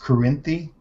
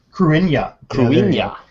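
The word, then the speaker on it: Cruithne: There's one called, I think it's pronounced Corinthi, and it's in a horseshoe orbit. Cruinia. It's Welsh, I think.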